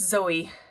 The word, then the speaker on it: Xoe: I'm going to say that's Zoe, as in xylophone, but please correct me if I am wrong.